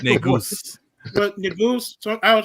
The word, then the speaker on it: Negus: Let him play Negos. Say that again. Let him play Negos. The king. He gonna play old man. the wise king, the wisest Black Panther. What do you say? Negos. It's pronounced Negus.